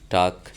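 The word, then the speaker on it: talk: এবং এল সাইলেন্ট, এলের পরে যদি ডি এফ কে এম থাকে তাহলে এল সাইলেন্ট হয়ে যায়, যেমন হাফ, টাক ইত্যাদি।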